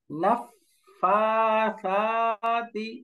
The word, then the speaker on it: نفاثات: ওয়া মিন শাররিন নাফাসাতি, উচ্চারণ করেন, নাফাসাতি, অর্থাৎ ফা এবং সা দুইটাই বেসিক মাদ, আলিফ মাদ সমান উচ্চারণ হবে। শুরুতে না এবং তি শেষে, এটা কোনো টান হবে না।